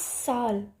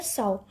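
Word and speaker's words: sow: I need 100 pesos in order to साउ, साउ को हम दो टाइप में प्रोनाउंस करते हैं, एक तो साउ एंड वन इज सो, वैसे जो मेन है वो है साउ।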